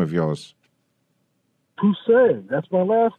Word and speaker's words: Pussy: How do I pronounce this name of yours? Pussy, that's my last name. Pussy.